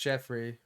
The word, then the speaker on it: Geoffrey: people remember him but his name was Geoffrey and he did it's pronounced Jeffrey yeah I remember him